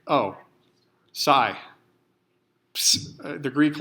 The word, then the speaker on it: psi: The Greek letter psi. I'm not sure if you pronounce the P or not. I guess you don't, because you don't say psychology. You could. Maybe that's what's wrong with me.